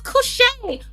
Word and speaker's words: Couché: She's like, "My name is Couché, Couché," and I was like, "Oh, it looked like cunt to me. I mean, it's spelled the same way.